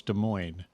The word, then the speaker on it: Des Moines: That's like Des Moines. No, it's Des Moines.